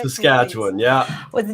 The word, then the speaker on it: Saskatchewan: like says catch says sketchup can you correct saskatchewan yeah with the name of this city in canada that's all perfect thank you saskatchewan yeah yeah you see so you've been teaching